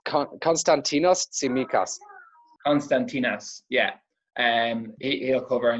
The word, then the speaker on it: Konstantinos Tsimikas: Cons, you might help me with the pronunciation of his name, Joe. You're better with these things than I am. Yeah, it's Konstantinos Tsimikas.